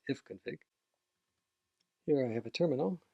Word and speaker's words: ifconfig: We can see what networks we have available and how they're configured on Mac by running ifconfig, interface config, or I'll pronounce it ifconfig.